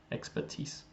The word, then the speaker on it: expertise: It's just a noun, and the pronunciation is expertise.